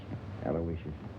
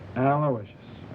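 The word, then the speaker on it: Aloysius: guy I guess you deserve a break yeah spell that middle name right it's a l o y s i u s aloicious sure how good I miss it aloicious uh on the way down I picked up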